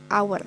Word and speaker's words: hour: Sorry ya, contohnya mungkin kalau hour, jam, nah itu kan hak secara tertulis, tapi secara pelafasan pengejaannya itu hour, jadinya dia tetap pakai an hour.